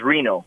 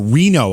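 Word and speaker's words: Rino: name is but my first name is reno or reno okay and spell that for us just make sure we have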